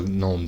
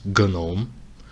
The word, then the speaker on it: GNOME: This is the Gnome Desktop, or you can also encounter the pronunciation as Gnome. It's the same thing.